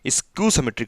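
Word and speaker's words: skew-symmetric: कर रहा था, स्पेलिंग स्क्यू सिमेट्रिक होता है। सॉरी गाइज, स्क्यू सिमेट्रिक बोलते हैं इसको।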